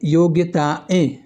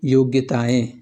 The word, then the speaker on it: योग्यताएं: योग्यताएं ऐ बोलेंगे ना तो लास्ट में बोलेंगे ऐ लेकिन इसका शुद्ध रूप होता है योग्यताएं।